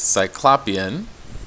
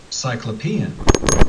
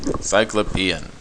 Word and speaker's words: cyclopean: reading but just to give you a sense cyclopian i looked up using google encyclopedia cyclopean i mispronounced it because i was thinking it's something